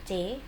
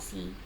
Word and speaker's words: C: si ya Bahasa si atau dibacanya si ya si bukan C adalah bahasa pemprograman tingkat